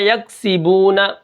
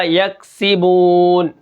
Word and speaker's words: یکسبون: زبرنا، یکسبون، وقفاً یکسبون۔ کاف کو ہم قلقلہ نہیں کریں گے کیونکہ یہ کاف باریک ہے۔ یکسی، سین کے نیچے کیا ہے؟